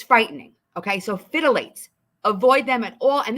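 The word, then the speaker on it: phthalates: haven't even heard of fidelates I'm going to spell that for you pee p h t h a l a t e s fidelates okay you want to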